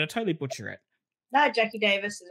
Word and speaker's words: Jacqui Davis: right or did I totally butcher it no Jackie Davis is right no you're good uh beautiful because